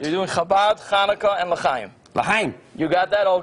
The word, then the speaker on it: L'chaim: Am I pronouncing it correct? You're doing Chabad, Chanukah, and L'chaim.